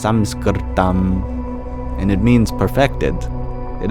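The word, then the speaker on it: संस्कृतम्: Or in Sanskrit, it's technically pronounced Samskritam, and it means perfected.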